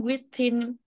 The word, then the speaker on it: within: vẫn chưa có Living within boundaries. tới. Living within, nhấn within là nhấn âm thứ hai.